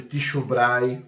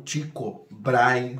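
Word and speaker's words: Tycho Brahe: Newton, vai falar sobre Ticho Braay ou Tico Bry, né, dependendo da sua pronúncia.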